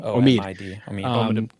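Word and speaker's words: Omid Abtahi: How do you pronounce his name? Omid. Abtahi.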